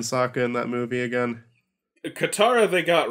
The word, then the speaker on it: Katara: Aang talking to Katara, and how are they mispronouncing Katara and Sokka in that movie again? Katara they got right.